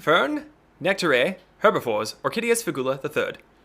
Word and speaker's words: Fern: Burn with a V or Vern with a F?